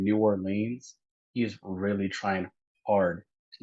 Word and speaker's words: New Orleans: Well, how do you say it then? New Orleans. New Orleans. That's New Nolans. Orleans. Like Nawlins.